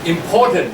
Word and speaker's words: important: somebody say like our important des it's great the work but be careful don't say in important now stress on the second syllable when I am a